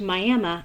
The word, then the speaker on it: Miami: Take, for instance, the town of Miami, spelled like Miami, Florida, but pronounced Miami after the Miami Indian tribe.